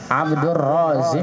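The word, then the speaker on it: عبد الرازق: Kalau roknya panjang, Razik, isim fa'il. Kalau zainnya yang panjang, habis zai ada alif, namanya Razzaq.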